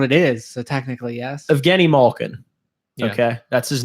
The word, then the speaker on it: Evgeni Malkin: well that's what it is so technically yes Evgeni Malkin okay that's his name yeah it's that's how he pronounces his name still half the population pronounces it of Guinea Malkin and will pronounce it that way forever regardless